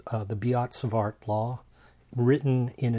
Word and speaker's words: Biot-Savart: now this is uh something called uh the beats of art law written in its magnitude form and the way you'd spell that is b i o t s a